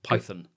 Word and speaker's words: Python: Monty Python with a long O at the end of Python. Whereas in in by English accent, it's more of awah. It's more of that neutral colorless vowel. Python.